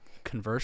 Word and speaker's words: Converse: like when I wear Converse shoes like it's just did you say Converse shoes Converse Converse it's spelled Converse it is spelled Converse but it's Converse I'm not going to